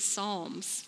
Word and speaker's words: Psalms: the Book of Psalms it starts with a P but you pronounce it Psalms and it's a book